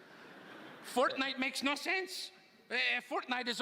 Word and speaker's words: Fortnite: Did you say fork knife? It's actually pronounced Fortnite. No, I don't think so. No, but believe me, definitely, I know. It's Fortnite, right, guys? It's Fortnite. Yeah.